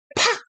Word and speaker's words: 팍: Misalnya bacanya apa? 팍!